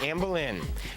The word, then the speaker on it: Anne Boleyn: Well, I'll say Anne Boleyn. That's right, Anne Boleyn. I don't want to lose my head over the pronunciation.